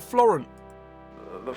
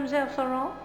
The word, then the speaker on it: Florent: he just killed Old Floren the Phantom he he just killed mmis florant he killed who old Floren Mel floron who is that you pronounced it wrong it's Florent the poor man is